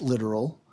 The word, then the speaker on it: littoral: let me clarify that it's pronounced literal but we're talking about